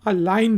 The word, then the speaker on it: align: पहला वर्ड है ALIGN, इसको हम अलाइन पढ़ते हैं, अलाइन। जी साइलेंट है, किसी चीज़ को सीध